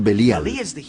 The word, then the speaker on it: Belial: Belial es una contracción de dos palabras hebreas, Beli y Yaal. Beli Yaal, que nosotros pronunciamos Belial.